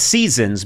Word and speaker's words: SZNZ: It's spelled, it's Seasons, but it's SZNZ. Yeah, so it's called Seasons, and there's spring, summer,